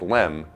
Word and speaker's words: LM: The lunar module, or LM, pronounced LEM, was designed to carry